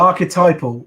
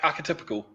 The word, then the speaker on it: archetypal: Archetypal is how you would say that. I would have thought it's supposed to be like archetypical, but he's not your